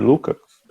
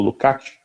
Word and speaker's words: Lukács: inteligente e pouco ortodoxo, que era o George Lukács, ou Lukács, né, como se fala, o Georg Lukács, que tinha uma série de textos.